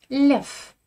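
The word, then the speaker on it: лев: Notre quatrième paire, blef, lef. Blef, une stratégie en poker, et lef, un animal, le lion. Je ne prononce pas de V à la fin d'un mot russe. Non, V devient feu.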